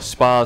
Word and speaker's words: SPAS: of coverage which is the spaz 12 or Spar 12 if you want to pronounce it correctly the SP 12 in